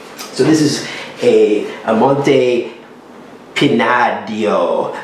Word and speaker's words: Pinadillo: this is a amonte pinadio so the ells are silent in spain and i'm not spanish